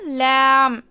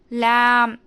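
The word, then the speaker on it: ل: லேமோட மஹ்ரஜ் என்னன்னா, நம்மளோட அப்பர் டீத் இருக்கு இல்லையா, 8 டீத்தோட ரூட்டில் வந்து டங்கோட சைட் போர்ஷன்லேருந்து இந்த சைட் வரைக்குமே டச் ஆகி நம்ம ஓதணும். இதை வந்து நாம் தின் லெட்டர்னு சொல்லுவோம். ஸ்மைல் பண்ணுற மாதிரி ஓதணும். அப்பர் டீத்தோட 8 டீத்தோட ரூட்டில் வந்து டச் ஆகி ஓதணும்.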